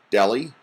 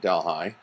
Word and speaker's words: Delhi: and I know the city in India is pronounced Delhi but believe it or not in upstate New York the same spelling and they call it Delhi so office of college relations and advancement and